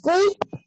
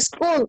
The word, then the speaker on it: school: luego tenemos light, ok, van viendo ahí, corrigiendo pronunciación, light, otro importante es talkative. ¿Ah? Profe. Hola. También es cool. ¿Ah? También es cool. ¿Dónde? La número 4, escuela, se dice school.